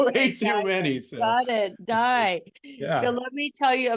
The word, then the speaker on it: Dai: know sometimes it's pronounced day but sometimes it's also pronounced die so with a Welsh pronunciation but no you're you're